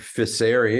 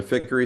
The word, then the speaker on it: Ficery: Ficery is how we roll with the pronunciation, but I respond to Ficery, Ficery, and Fiercey most of the time.